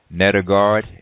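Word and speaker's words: Nedergaard: Mercola still according to later author Mackin ned ogata think her name is pronounced nether guard MD she says this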